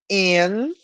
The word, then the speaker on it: inhabitants: In English, when we have this combination, N and H, they are always separated. N is one syllable, H is another syllable. So we say inhabitants.